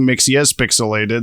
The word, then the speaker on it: Mxyzpixilated: We're watching Mxyzpixilated.